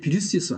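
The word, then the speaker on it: virus: 원인데 원래 바이러스는 라틴어의 비루스에서 왔어요. 그래서 뭐 영어 발음도 비루스입니다. 영어 발음은 바이러스고 독일어나 러시아나 그다음에 라틴어는 비루스였어요.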